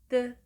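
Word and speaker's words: ㄷ: The way to pronounce "Di-Geud" is somewhere between "D" and "T" sound. So, the sound of "Di-Geud" is "Deu", "Deu", "Deu".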